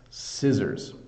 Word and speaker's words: scissors: a challenge to pronounce because the S and the C both make the same s sound so this is scissors um so yeah we